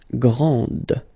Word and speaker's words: grande: Okay, so grand, and then the feminine form, grande. Okay, so you put this E, and then you get the sound D, D, grande.